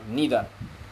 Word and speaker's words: neither: এখানেও উচ্চারণ নিয়ে কেউ মনে করতে পারেন ইদার অর নিদার, both প্রোনাউন্সিয়েশনস R correct.